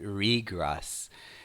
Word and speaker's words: regress: You can't get out of the infinite regress. Now, let's talk about the verb first, regress, which means to go back. The noun is regress with stress on the first part.